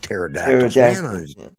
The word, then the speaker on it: pterodactyls: those things are like pterodactyls yeah yeah you didn't think i knew what that said did you see that yeah yeah i didn't call it the p is silent yeah i didn't call